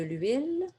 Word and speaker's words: huile: ou H muet comme de l'huile, le H est muet, de l'eau, voyelle, des plus pluriel, des tomates, des œufs.